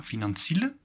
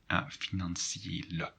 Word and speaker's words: financiële: However, with the first one, if there are no two dots, you would say financiële? No, financiële.